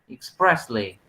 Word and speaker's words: expressly: It's expressly with an E. Expressly. Expressly. Because it comes from the word express.